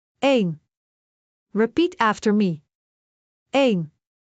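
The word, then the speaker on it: één: Eén ... just one syllable. Eén.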